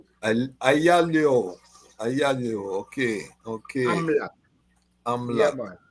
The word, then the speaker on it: Ayalew: As you read it, Ayalew. Ayalew. Ayalew.